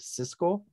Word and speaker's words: Siskel: no is it how is the first one pronounced cisco cisco yeah cisco yeah split on this movie